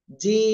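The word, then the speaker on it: جيم: আলিফ টেনে উচ্চারণ করবো একটু শক্ত আওয়াজে হবে উচ্চারণ জিম জিম সবাই একসাথে জোরে জোরে বলেন জিম মাশাআল্লাহ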